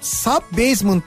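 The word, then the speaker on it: sub-basement: Kelimenin aslı sub basement. Okunuşu işte bu sub basement diye okunuyor.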